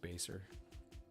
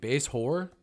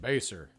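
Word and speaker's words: Basehor: Yes, it's pronounced Baser. When I first moved here, I was like, base whore? Base whore. Base whore? I'm like, how do you say that? And they're like, Baser.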